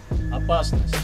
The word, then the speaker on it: опасность: Опасность.